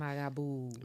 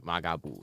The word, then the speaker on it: Marabou: Magaboo. Magaboo. So like the R is pronounced as a G. Yes. Magaboo. Like hey Boo.